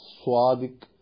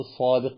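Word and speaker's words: صادق: തന്നെയാണ് നമ്മൾ എന്ത് ചെയ്തത് സ്വാദിക് എന്നെഴുതല് പക്ഷെ വായിക്കുമ്പോൾ മുസ്ലിങ്ങളായ നമ്മളെ അറബി പഠിച്ച് നമ്മൾ സ്വാദിഖ് എന്ന് വായിക്കണം മലയാളത്തിൽ എഴുതാൻ നമുക്ക് സ്വാദില്ലാത്തത്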